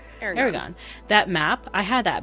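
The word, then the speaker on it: Eragon: had what was that the how do you pronounce this book? Is it Aragon or Aragon? I can never remember. Aragon.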